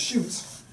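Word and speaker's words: Schultz: Mack at the time lived on Shoes Plantation, as I said, pronounced Shoots by the locals.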